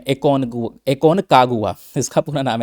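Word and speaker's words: Aconcagua: Mount एकोनगुआ के बारे में, एकोनकागुआ इसका पूरा नाम है, प्रोनाउंसिएशन ऐसे चलता रहेगा तो ध्यान रखिएगा।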